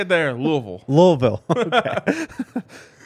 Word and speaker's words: Louisville: Louisville. Okay. You got to hit the VUL at the end. Louisville.